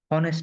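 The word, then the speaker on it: honest: यहां पे ठीक है एच साइलेंट है तो और मतलब यह ओ का साउंड क्या करता है? प्रोड्यूस करता है। तब हमने यहां पे एन लगा लिया। अब ये ऑनेस्ट नहीं है। ऑनेस्ट ये ऑनेस्ट है।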